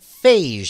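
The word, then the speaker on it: Feige: Uh, Marvel President Kevin, I'm gonna pronounce it Fagee because it looks like the word beige with an F.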